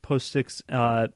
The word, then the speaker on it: POSIX: The reason why it's a little different on Windows is Windows isn't what's, I believe it's pronounced POSIX based.